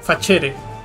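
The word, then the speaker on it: facere: principal característica es que se pronuncia igual que el italiano por ejemplo la palabra hacer se pronuncia fachere y Hola se pronuncia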